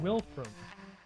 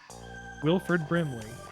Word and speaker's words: Wilford Brimley: his name properly now no not wilri it's not his name Wilford Brim Wilford Tauros W wilri it's Wilford Wilford Brimley no that's wolon bongle